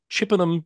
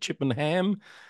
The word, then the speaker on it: Chippenham: Someone picked me up on the pronunciation of Chippenham Town Council. I said Chippenham. Get it so right.